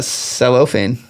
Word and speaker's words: cellophane: Celluane.